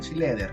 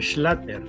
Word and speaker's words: Schlatter: que a don Juan Schleder. ¿Cómo está usted, don Juan? Y primero que todo, dígame si está bien la pronunciación del apellido. ¿Schleder? No, tal como se escribe, Schlatter.